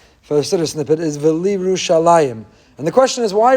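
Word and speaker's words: ולירושלים: They say V'liyerushalayim, but that's not the word. That's incorrect. The word is V'liyerushalayim. So there is no shva under the yud. It's not V'liyerushalayim. It's V'liyerushalayim.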